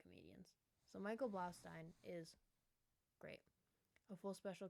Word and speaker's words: Blaustein: Michael Blaustein, Blaustein, Blaustein, Blaustein, like Frankenstein, Blaustein.